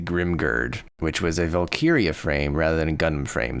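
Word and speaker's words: valkyrja: guy on Tik Tok and the way he pronounces it is wera and then valkiria and that apparently means Chooser of the the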